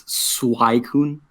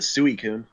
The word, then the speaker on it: Suicune: real big brain clear it's swai kun I was a kid I called it suicune and I didn't really